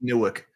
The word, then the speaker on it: Newark: 10.3 and new 10.1 you got to get your New Jersey W accent going it's nck Nork I'm never going to I'm not I'm never gonna say it right you're from North Jersey it's newick I I butcher it